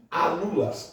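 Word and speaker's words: álulas: A a os voos comerciais eram um desespero até que até que física eles descobriram na águia chamadas alulas. Alulas com acento no primeiro a como se pronuncia?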